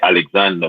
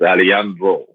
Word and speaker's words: Alejandro: You know, we say Alexander Bustamante, Yeah. but you know, in Spanish it's Alejandro Bustamante.